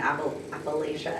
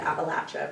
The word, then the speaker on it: Appalachia: opioid crisis and a Appalachia Appalachia people were telling me I was saying it wrong Appalachia I said appala Appalachia appala Appalachia I don't know say